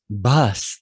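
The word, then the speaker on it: bhas: Bas, that BH is pronounced like buh, buh. You aspirate the B. We don't do that in English, but it's a basic consonant in the Indic languages, means illusion, and Brahm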